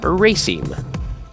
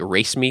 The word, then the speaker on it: raceme: It actually looks like race me, which is kind of cool. Hey, race me. But no, it's pronounced raceme.